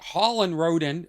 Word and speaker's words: Holland Roden: Holland Roden, am I saying it right?